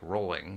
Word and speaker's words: Rowling: surnames than my own Rowling is pronounced like Rowling which used to lead to annoying children's jokes about rolling pins when I was nine